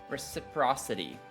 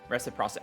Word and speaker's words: reciprocity: I think because I was thinking of reciprocal, and I was trying to make it like an extra part.